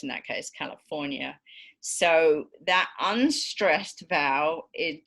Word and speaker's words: California: Think of I don't know how many of you remember when Arnold Schwarzenegger was governor of California, but he always used to pronounce it California.